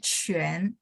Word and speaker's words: 全: Oke, 全 ya, Q-U-A-N bacanya 全 mulutnya setengah bulat ya.